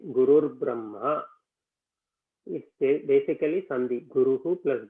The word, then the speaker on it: Gurur Brahma: So when you pronounce it, instead of saying Guruhu Brahma, as you keep saying it very fast, it will become Gurur Brahma.